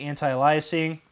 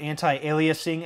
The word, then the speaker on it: anti-aliasing: color and I'll keep the anti-icing or anti-aliasing as I'm told it's pronounced and I'll click the